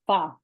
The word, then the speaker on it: pho: PHO is pronounced fa. Say that God one more knows. time. Fa. Pho. Fa. I don't know why. That's just how it's pronounced.